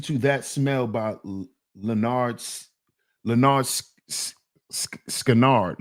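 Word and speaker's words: Lynyrd Skynyrd: Listen to listen to that smell by Leonard Leonard Skannard. Leonard Scannard. That's how you pronounce that, Bob.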